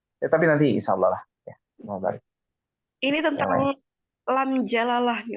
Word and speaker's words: Allah: fathah k gitu ya maka harus dibaca tebal saya seperti Qul huallah sebelumnya bacaannya apa fathah ada Fathah di situ huruf wa wa WAnya fathah maka ini tebal maka dibaca tafkhim tebal Allah dibacanya tebal ya kemudian jikalau bacaannya itu sebelumnya adalah kasrah ya sebelum kata Allah itu ada kasrah ya maka ini harus dibaca tipis ya saya kasih contoh